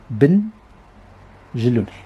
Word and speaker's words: Benjelloun: En arabe, c'est séparé. Ben Jeloun. Et c'est écrit tel que c'est prononcé. Parce qu'en littéral, on ajoute un i, comme on dit Ibn Khaldoun.